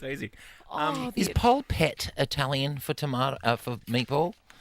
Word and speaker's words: polpette: Oh, Is the- polpette Italian for tomato for meatball? No, Like that's when they pronounced like Pol Pot.